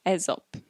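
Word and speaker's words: Aesop: that this expression derives from a fable by ezop is that how i pronounce it yes you know not a soap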